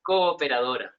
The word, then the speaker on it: Cooperadora: Asociacion Cooperadora.